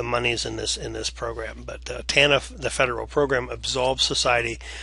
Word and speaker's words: TANF: Families, or TANF is how the TANF is pronounced, TANF.